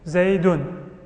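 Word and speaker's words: زيدٌ: That's actually the word Zayd with a dhamma and a noon, because you're pronouncing a noon, Zaydun.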